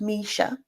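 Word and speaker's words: Mischa: on the link Misha by the way it's pronounced Misha and I clicked a few a few links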